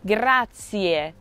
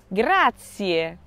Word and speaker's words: grazie: this means thank you remember to pronounce the ie ending every letter in the time is pronounced grazier grazier at number four we